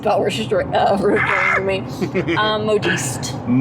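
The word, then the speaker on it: modiste: Um modist. Modist. Mhm. Ah. It's not a word I'm familiar with. Um, having that at the old lexicon, uh, modist. It's like modest but slightly different, which is interesting.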